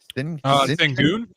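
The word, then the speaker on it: Şengün: Sengun.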